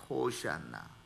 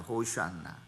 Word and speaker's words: 호샤나: 호샤나. 그러니까 언뜻 들으면 뭐예요? 호산나. 이렇게 이제 영어 발음이 호산나가 됐는데요.